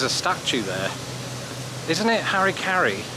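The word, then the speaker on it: Harry Caray: How do you pronounce that in British English? You know, those words, because we don't have the merger of Mary, Mary. So it's very hard for me to say his name and to get it right in the way I speak.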